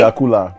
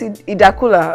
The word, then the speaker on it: Idakula: Dakula, really? It's Idakula. Okay, well, I said Idakula.